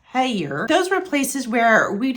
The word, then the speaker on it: Hellier: However, it is pronounced Hellier.